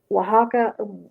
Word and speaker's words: Oaxaca: I mean, even some Spanish speakers that aren't from Mexico, they will pronounce it differently because it is an Aztec name. Well, it's derived from an Aztec name. So Oaxaca is one of the